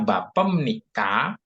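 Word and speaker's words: 밥입니까: tadi Apa Oh ini BAP Ketemu ni maka dibacanya m Jadi dibacanya bapem nikah nah begitu pem BEM bapem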